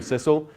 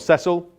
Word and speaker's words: Cecil: First Lord Burleigh William Cecil pronounced Cecil not settle so we have his